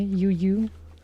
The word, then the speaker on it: Juju: Troll Juju would be funnier if they would pronounce it in a German way. Yuyu Yuyu.